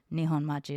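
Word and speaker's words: 日本町: But to be able to speak from the mixed Asian perspective in Japantown, Nihon Machi is how you say it in Japanese.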